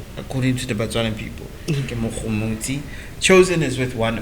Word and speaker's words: Mogomotsi: When you think of my name, you must think French because the French are the ones who pronounce the G's. It's Mogomotsi. Right? It sounds romantic.